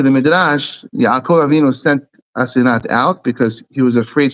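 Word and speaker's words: Asenath: It's not Osnat, because there's a ma'amid there. It's Asenat. It's not Osnat. It's Asenat.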